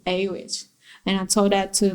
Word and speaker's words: Awich: and then and then just took a w i c h and just pronounced it a which and i told that